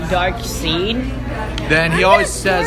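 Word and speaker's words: Darkseid: that annoying kid in second grade, but it's pronounced Dark Seed.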